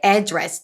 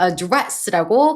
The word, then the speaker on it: address: 명사로 들어갔을 때 address 동사로 address라고 강세 주는 것만 조금 신경 써 주시고 이건 다 외워 주셔야 돼요.